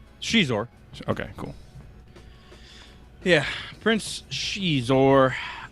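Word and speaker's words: Xizor: How's it pronounced? Shizor.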